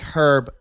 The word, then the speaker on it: herb: But like I understand, like you, the silent H, like herb.